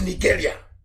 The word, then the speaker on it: Nigeria: zoo is down, unless Nigeria ceases to exist. As long as Nigeria, that's the proper pronunciation, not Nigeria is the phone, Nigeria. It sounds a bit, okay. The proper name is Nigeria.